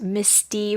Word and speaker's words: Misty: It's actually pronounced Misty. You have to make sure to overpronounce the Misty E.